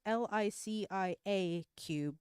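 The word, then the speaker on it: LICIACube: I want to pronounce it like the camera company, but it's LICIA cube yet.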